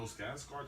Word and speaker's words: Skarsgård: The person that's played it, Bill Skarsgård. That's how it's pronounced his name.